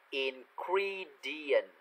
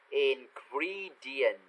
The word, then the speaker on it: ingredient: Ingredient. Ingredient. Được chưa? Trong tiếng Anh đó, âm E thì đọc là âm I. Ingredient.